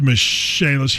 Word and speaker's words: Michaelis: for the michaelis corporation spelled like michael is but pronounced michelle's here's what you need